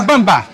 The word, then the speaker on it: Mbamba: Mbamba. Isso. O M não se lê, ele isso reforça o B.